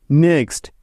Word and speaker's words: knock: এখানেও প্রতিটি উদাহরণে এন এর আগে কে আছে, তাই এগুলোতে কে সাইলেন্ট বা উজ্জ্ব আছে।